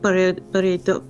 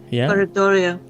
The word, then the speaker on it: pareidolia: This one is very strong with pareidolia. How pronounce pareidolia? Pareidolia.